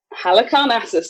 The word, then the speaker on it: Halicarnassus: and the mausoleum I did look at the pronunciation of this this morning Hannah cars Halicarnassus thank you very much Joe so the only